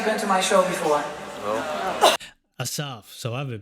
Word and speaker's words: Asaf: good and I'll introduce myself my name is assap how many has anybody ever been to my show before Assaf so I've been pronouncing his name name different ways and many